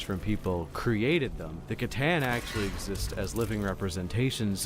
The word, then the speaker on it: Catan: for saying words wrong, I thought it was actually pronounced Citan, which, okay, cool, might be, I take it back, I'm gonna say it right from now on.